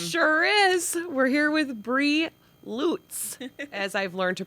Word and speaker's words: Bri Lutz: We're here with Bree Lutz, as I've learned to pronounce it.